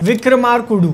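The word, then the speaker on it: Vikramarkudu: अगली picture release होती है जिसका नाम मैं प्रोनाउंस करने की पूरी कोशिश करूंगा विक्रमा कुडू ऐसे बोलते हैं विक्रमार कुडू बजट फिर से करियर का पीक टच करता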